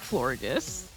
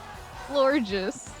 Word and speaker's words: Florges: It's probably like floor. Maybe Florges? It's supposed to sound like gorgeous. Oh, that's cute. Florges.